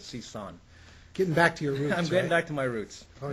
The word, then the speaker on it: Sison: Sison, you see, I used to call him Sison. Yeah, it's actually not completely Cal's fault. I actually went back to the original pronunciation of my last name, which is Sison.